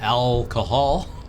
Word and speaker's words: alghoul: Wait, what's an alghoul? It's pronounced alcohol.